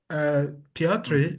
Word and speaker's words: Piotr: Piotr is Polish, and his name is pronounced as Piotr.